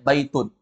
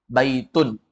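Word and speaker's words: بيت: tidak beralif lam lihat baitun ada Alif lamnya tidak ada yang kedua biasanya dia datang dengan tanda bertanwin baitun Bukan dibaca baitu baitun Bukan dibaca bait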